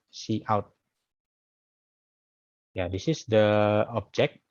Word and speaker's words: cout: Yeah, so the cout is pronounced as yes, as I pronounce it cout. Okay, chout, yeah, but this pronounced like cout.